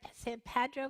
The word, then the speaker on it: San Pedro: will always be friends this is written down to San Pedro except that I say it right San Pedro say Pedro Park and